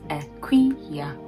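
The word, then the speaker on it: Akua: It just means a Wednesday born, and it is pronounced Akuya.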